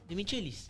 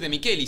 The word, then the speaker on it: De Michelis: es lo mismo boludo Por qué no pronuncian los apellidos de afuera bien o en este caso los nombres no de mikeli de Michel ti que decir de mikeli si es un apellido italiano más vos o sea